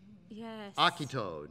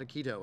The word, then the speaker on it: Akito: ima not a llame you know Akito not Aikido i mean we can't